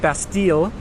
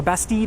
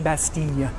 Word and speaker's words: Bastille: my life calling it Bastille. You don't want to do that if you're here. That double L is not pronounced in the French language. It's more of a Y sound. So Bastille, Bastille, Bastille.